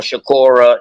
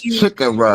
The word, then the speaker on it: Chicora: Carolina, that was on Shakora. That was Shakora on the making. That was one of them. And I actually pronounced it right. It's Chicora because it's It's that first map right there to your left.